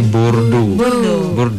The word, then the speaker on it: Bordeaux: Bordeaux ini EAU dalam bahasa Prancis, belajar ini ya fonetik sedikit. EAU atau AU dalam bahasa Prancis dibaca jadi O. EAU. Setiap ada AU atau EAU bacanya jadi O. Oke, berarti Bordeaux. X-nya bisa dibaca ya, Kak? Enggak, X nggak dibaca. Jadi konsonan di akhir kata itu nggak dibaca.